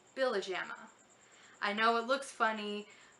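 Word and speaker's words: Pihlajamaa: The last name is pronounced Billajama. I know it looks funny, but no, it's not Billahama, Billyahama-nama-na, it's Billajama.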